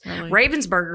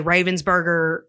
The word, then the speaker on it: Ravensburger: how do you say Crypt crypto no oh Raven's Burger it is Ravensburger um how do you spell it is it a particular puzzle like you